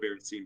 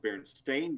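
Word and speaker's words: Berenstain: berenstein bears right well i've always called it berenstein bears but it's actually pronounced baron stain bears there's been a whole argument with that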